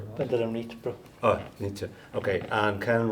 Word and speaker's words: Vandelanotte: go quickly, Pascal Vandelanotte, is that the right pronunciation? Vandelanotte.